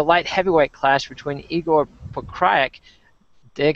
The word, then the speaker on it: Pokryak: Let's move on to a light heavyweight clash between Igor Pokryak. Dig how well I pronounced that. I gotta say, I did not say Pokryak like I normally would. Igor Pokryak versus Joey Beltran.